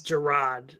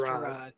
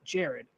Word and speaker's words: Gerard: Gerard. It is Gerard. So everybody thinks that my name is your name, and I bet you there's probably people who think your name is pronounced Jared.